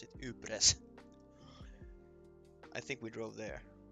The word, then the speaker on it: Ypres: Yeah, it's Yepper. Yeah, that's the one. For me, for some reason, it's spelled with like. For me, it's spelled like this. Ypres. This is how I pronounce it. Ypres.